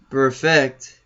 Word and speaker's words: Burfict: I mean, Burfict, right? That's how you say it? Yeah, perfect. Perfect.